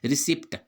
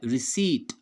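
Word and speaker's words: receipt: उसी प्रकार देखिए ये भी आपने देखा होगा, रिसिप्ट, हम इसको क्या प्रोनाउंस करते हैं, रिसिप्ट, जबकि इसका सही उच्चारण क्या है, रिसीट, रिसीट, रिसीट।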